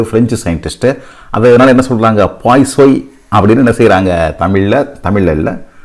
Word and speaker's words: Poisson: நம்ம பொதுவாக இந்த பேரை பாய்சன்ஸ் ரேஷியோன்னு நம்ம சொல்கிறோம், ரைட்? ஆக்சுவலாக இது ஒரு ஃப்ரெஞ்சு பேர், ஃப்ரெஞ்சு சயின்டிஸ்ட்டு. அதனால என்ன சொல்கிறாங்க, பாய்சோய் அப்படின்னு என்ன செய்கிறாங்க, தமிழில் இல்லை, அப்படி தான் ஃப்ரான்ஸில் என்ன செய்கிறாங்க, உச்சரிக்கிறாங்க.